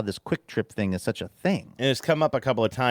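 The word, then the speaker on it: QuikTrip: Taylor says, "There are two different gas station chains chains with names that are pronounced the same but spelled differently. Quick Trip with a Q qu u i k trip is awesome.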